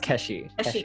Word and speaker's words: Keshi: pronounce your name correctly it's pronounced Keshe can you tell us